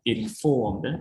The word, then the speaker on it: informed: Four, informed. Informed. Also stress on form.